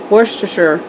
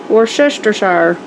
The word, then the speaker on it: Worcestershire: Worcestershire is how you say it.